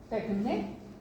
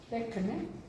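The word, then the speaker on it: τέχνη: Para ellos, la tecné, con K, tecné, y acento en la E, tecné, o sin acento también funciona.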